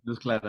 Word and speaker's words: luz clara: Luz clara. Clara luz, I think, in Espanol, no? No se dice. Luz clara, Luz sí. clara. But the emphasis there is on the clara, not the luz.